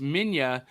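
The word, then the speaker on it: Minilla: Manila manira oh okay so that's how it's pronounced Minya but it's spelled m-i-n-i-l-l-a yeah and which this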